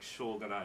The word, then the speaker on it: Shōganai: And you got to say it like Shogunai if you want to pronounce it right.